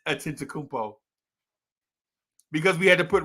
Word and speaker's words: Antetokounmpo: and this dude named Giannis Kakupo. Right. That's the way we pronounce his name before we had to put respect on his name. Giannis. That's how we pronounce his name until we had to put respect on it. Right? And he made us put respect on it. Now everybody says Giannis Antetokounmpo because we had to